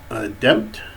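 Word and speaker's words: Dimt: Over here we have the angel Demt, that's spelled D-I-M-T, or, okay, D-I-M-T, Demt, who is an angel of transportation, okay.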